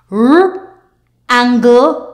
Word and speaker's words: wrangle: WR WR word family the W is silent therefore you will say R let's go R app rrap r a rapper R angle rangle r a ra